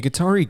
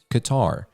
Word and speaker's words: Qatar: adashay told Yahoo sports the pronunciation in English is different because the word uses two letters that only exists in Arabic the accepted pronunciation would sound like saying Qatar but he said another way that also worked is Qatar but sometimes that sounds like gutter so we prefer Qatar other Arabic speakers explain